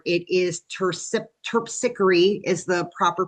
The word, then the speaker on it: Terpsichore: Um, I always called her TPSR. It is tip tickery is the proper pronunciation.